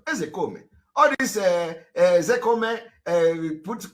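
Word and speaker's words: Ozekhome: Ezekome is the pronunciation. A lot of people don't know. You know, they come and they pronounce his name and adding Ke, Ezekome. And they say, it's Ezekome. It's not Ezekome.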